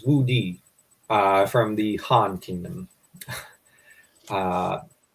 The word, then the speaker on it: Wu Di: I think it's Wu Di from the Han Kingdom. Uh, did I pronounce that right, or did I?